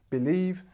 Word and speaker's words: believe: complicated so believe so here is where the stress is on the second syllable of the word believe and this is a long e the first one I believe believe so the first one short the second one long Believe try it one